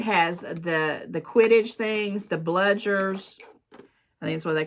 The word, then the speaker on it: bludgers: It's got, yes, it's bludgers. B-L-U-D-G-E-R. So it's got a quaffle.